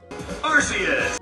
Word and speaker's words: Arceus: the game Pokémon Battle Revolution on the Wii arus then comes the rumor that there are trailers where the Pokémon is pronounced araus at some point much like our friends at